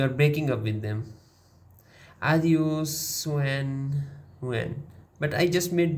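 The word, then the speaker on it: adiós: Say it like this: Adios. Hold the S like you are walking away in slow motion with wind in your hair and no regrets.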